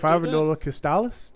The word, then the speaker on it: Fabula Nova Crystallis: of slowly ditch the Fabula Nova Chrysalis plan. Yeah, like Fabula Nova Crystallis, that's what I've heard pronounced as, but I mean, the sales just kept getting lower and lower, actually, right?